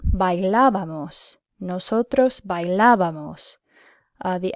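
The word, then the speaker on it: bailábamos: the correct imperfect ending I hope you said bye la vamos nosotros bye la vamos the accent is important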